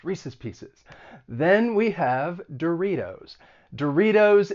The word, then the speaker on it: Doritos: included it is because that tea in doritos i am going to pronounce it with a flap t which is very common in the united states so when the t comes between two vowel sounds you're going to use a flat t it sounds like a